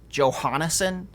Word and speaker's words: Jonason: The weirdest one I think I ever heard was Jonason. I don't know why. There's no H. Yeah, let's just throw in an extra syllable in there.